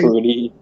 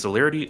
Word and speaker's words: Celerity: So the celebrity. Celerity. Celerity. There we go. That's one. Like I'm like, Celebrity. yeah, like Brian, say the word. It's I was not like, me, fucking dyslexic. English. Yeah. I always call it celery. That's the way I pronounced it in my head.